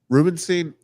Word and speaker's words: Rubenstein: say his last name what's the correct Rubenstein Rubenstein yeah David Rubenstein to potentially purchased the Orioles